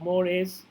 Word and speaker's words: mores: It's like mores. That's how it's pronounced.